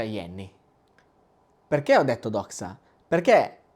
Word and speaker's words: Jenny: Si scrive Jenny, però si pronuncia Yenny.